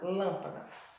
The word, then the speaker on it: lâmpada: mais se alugou uma então lan é a sílaba mais forte da palavra lâmpada vamos ver outro vovó